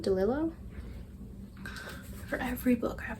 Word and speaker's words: DeLillo: well it is great jones street by dawn delilah delillo for every book i have to look up how to pronounce something so now that i've heard the